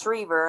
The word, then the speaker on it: Shriver: So I love Sarah and I would never correct her, but it is pronounced Shriver. And if I didn't say that, my dad would probably roll over in his grave.